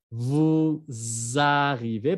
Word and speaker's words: vous arrivez: Vous arrivez, pero no se pronuncia S, se pronuncia Z.